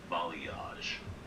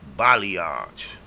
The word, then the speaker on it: balayage: How you pronounce it. Bam. Balayage. Balayage.